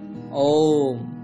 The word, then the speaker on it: ওম: আবারও বলছি, এর উচ্চারণটা হবে ওম।